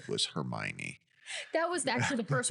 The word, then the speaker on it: Hermione: to hear what your brain said was Hermione.